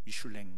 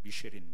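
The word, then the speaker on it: Michelin: 2편까지 인 미슐랭 가이드 원래 그 미술 랭이 프랑스 말이구요 여러분 미쉐린 타이어 하시죠 이 프랑스 회사인데 이제 프랑스로 오면 미슐랭 그런 먹고 우리가 미국 이제 발음으로 하면 미쉐린 그러는데 원래 여기에서 이제 타이어를 살아온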